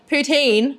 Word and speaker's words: poutine: Poutine, is that how you say it, you Canadians?